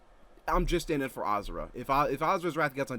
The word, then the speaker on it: Asura: people want, but I'm just in it for Azura. If Azura's Wrath gets on Death Battle, it's just Yeah. for Azura. Even though it's technically, Yeah, I'm pretty sure like- it's pronounced Ashura, the species that he's Yeah.